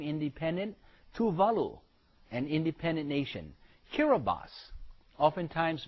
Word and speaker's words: Kiribati: that also became independent Tuvalu an independent nation Carabas oftentimes mispronounced Kiribati but it's Kira bas in the Hawaiian language we call it a